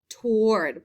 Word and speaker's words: toward: toward the roller coaster that a that a does not really follow any pattern it's not a long a sound it doesn't have the air sound or the r sound so i'm going to